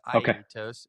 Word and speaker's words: Aetos: So I think what you guys are doing with um is a it's actually it's a Greek word. But it's pronounced Itos and its it means it means eagle in Greek.